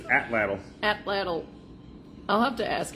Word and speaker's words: atlatl: It's a tool that uses leverage to achieve greater velocity and Atlatl. addle-addle.